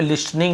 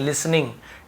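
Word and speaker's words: listening: जो सुन रहा था, टी को यहाँ पे लिस्टनिंग नहीं पढ़ेंगे, लिसनिंग, टी साइलेंट होता है।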